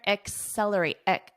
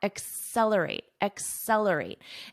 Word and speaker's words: accelerate: So accelerate, notice my pronunciation here, accelerate. There's a little bit of a k sound, accelerate.